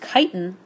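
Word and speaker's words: chitin: plants and this is pronounced interestingly this is pronounced kiten and it's a polysaccharide used by insects and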